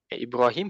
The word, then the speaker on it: Ibrahim: Ibrahim hi panjang.